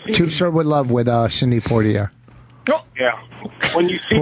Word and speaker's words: Sidney Poitier: I'm not violent at all, even though did I say his name wrong? No, I like how you say it. No. Sidney Poitier.